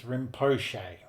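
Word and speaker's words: Rinpoche: That's I got to look up the I got to look up the pronunciation of that cuz that's one I've been saying. Raponce is rimpoche.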